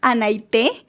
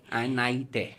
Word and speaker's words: Anaite: Bueno, mi nombre es Anaite. Anaite. Anaite.